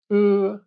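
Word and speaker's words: ㅡ: The tongue position when pronouncing is the same as for u, but the mouth is wide. The mouth is not open, just wide. 으, U. Imagine you're pronouncing u but you have to bring your lower teeth to your upper lips and open your mouth wide.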